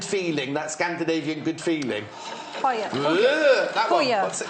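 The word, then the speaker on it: hygge: Yeah, it's spelled huggy, but they don't say huggy, do they? They go, no, they go, like that.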